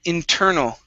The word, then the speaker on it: internal: internal internal internal okay now with that al at the very end you're pronouncing an r saying internal okay the l the l you reach up and touch the top of your mouth with your tongue inter null internal there you go okay better okay so